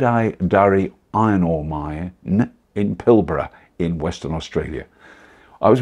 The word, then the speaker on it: Pilbara: iron ore mine pillar I would say pilbara pilbara apparently is how you say it Western Australia now this